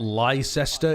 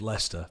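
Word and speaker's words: Leicester: in Gard no shot liester is pronounced Lester yeah unfortunately it is you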